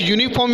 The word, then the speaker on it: uniform: Like uniform is there, like uniform is given here, the spelling beginning with U, but pronunciation is started with the Y.